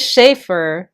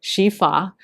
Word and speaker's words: Sheaffer: on, I have inked it here on this Schaefer, Shifa. It will always be Schaefer to me, however it is pronounced correctly.